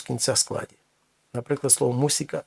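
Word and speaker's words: música: Наприклад, слово мусика. Зверніть увагу, немає звука з, не музика, мусика.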